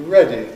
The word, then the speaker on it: ready: Are you ready? Are you ready? American English is are you ready? You ready? Ready. It's faster. Ready. It's almost attack like a Spanish R.